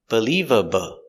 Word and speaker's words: believable: The stress is on the second syllable, leave, believable. Also, the L's are different. The first L is a light L, in the front by the teeth, believable.